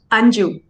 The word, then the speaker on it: Anju: And how do you pronounce your name, just so I'm pronouncing it properly? Anju. Anju, perfect, awesome.